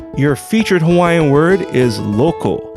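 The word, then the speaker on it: loko: is hawaiian for lake please do not confuse loco which is spelled l-o-k-o for lake and local spelled l-o-c-a-n which is something or someone belonging or relating to a particular area thank you once again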